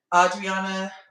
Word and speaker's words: Audriana: Audriana, I keep saying her name wrong because there was an Andreana on Love Island, but you know, Audriana,